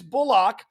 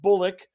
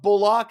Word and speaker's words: Bullock: Yes, it is Bullock. I know most of last year we said Bullock, but Bullock is how he wants it pronounced.